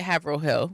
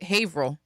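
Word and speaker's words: Haverhill: We don't call it Havil Hill. We call it Haveril.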